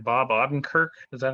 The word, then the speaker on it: Odenkirk: I don't know if I'm pronouncing it right. Bob Odenkirk. Is that how you say his name? Bob Odenkirk. Odenkirk.